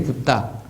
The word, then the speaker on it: 붓다: 그래 부처, 열애, 세존 이런 말을 많이 쓰는데 붓다. 부처란 원래 그 나라 발음은 붓다인데 그런 단계적 개념을 알아야 되고